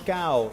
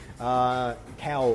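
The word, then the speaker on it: Kau: Josh Cow is, I hope I'm pronouncing your surname correctly. Cow, like K-A-U.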